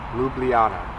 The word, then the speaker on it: Ljubljana: the capital city of Slovenia which is Luana lublana um it's lovely here it's so peaceful it